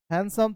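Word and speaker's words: handsome: याद रखिएगा, इसमें डी का उच्चारण नहीं कीजिएगा। हैंडसम थोड़ा नाक से आवाज आने दीजिएगा। हैंडसम जैसे सैंडविच, तो यू लुक ब्यूटीफुल।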